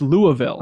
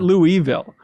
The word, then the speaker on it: Louisville: it on the podcast is it Louisville it's pronounced Louisville okay not Louisville I didn't have to google that ahead of